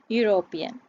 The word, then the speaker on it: European: ඊළඟ word එක European.